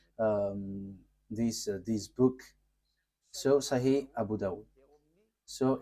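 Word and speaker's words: Sahih: So in that hadith there are few books and in these books there is a writer uh Sah Abu Dau. So it is spelled s a h i h s a h i h.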